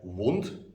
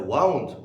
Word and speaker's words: wound: so instead of saying a wound that's correct some people may say a wound and a wound with two syllables is wrong another example is an